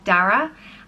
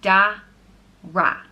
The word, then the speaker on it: Dara: The next name is Dara, and it means fertile, wealthy, or dark oak. And it's pronounced Da-ra, Dara.